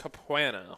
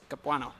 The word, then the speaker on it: Capuano: miss you Andy Dirks capanna we miss you yeah I can't believe you can't pronounce that name Romano Capano Chris Capuano you're trying to make